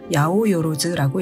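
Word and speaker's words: 八百万: 800만이라고 쓰고 야오요로즈라고 읽습니다.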